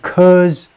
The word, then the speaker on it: Quds: Top commanders, Iran's powerful Quds forces, 이란의 강력한 Quds forces, 이란의 강력한 Quds forces라고 읽어요.